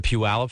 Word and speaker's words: Puyallup: she know I'm sure they were great and puyallup is a wonderful town and I'm the fact that I'm able to pronounce it correctly is how ate me yeah